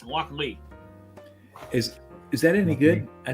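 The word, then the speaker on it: Lochlea: So after flipping through the 2023 Malt Whiskey Yearbook, apparently I've been pronouncing this wrong. It's Loch Lee.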